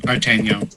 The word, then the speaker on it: Artagnan: Artagnan. It's D'Artagnan without the D, with proper pronunciation.